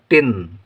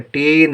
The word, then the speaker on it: टिन: टा में छोटी की मात्रा टी और ना टिन। ठीक है, टीन नहीं टिन, टीन पढ़ेंगे तो बड़ी की उच्चारण हो जाएगा, क्योंकि यहाँ पर छोटी लिखी है तो हम पढ़ेंगे टिन।